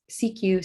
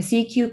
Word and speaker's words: CQ: as a cq call when pronounced in french the official language for international telecommunications cq sounds like the first two syllables of security used to mean pay